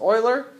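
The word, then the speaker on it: Euler: is called Oiler number it's not pronounced uler it's pronounced Oiler um it's an irrational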